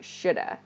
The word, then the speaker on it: should have: have i should have this should have is reduced to shoulda i should have gone